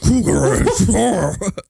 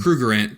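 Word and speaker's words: Krugerrand: Like, whoa, whoa, cougar ant. It's cougar ant, right? Is that how you say it, or is it a Kruger ant? Kruger ant. Kruger ant. Yeah, Kruger ant.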